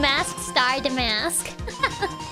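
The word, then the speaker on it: Mask★DeMasque: I couldn't imagine they pronounce the star in Mask DeMasque. Mask star DeMasque.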